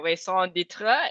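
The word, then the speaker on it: raison d'être: my ikigai or in french it is my song ditra is it right that i pronounce it right um yes so uh i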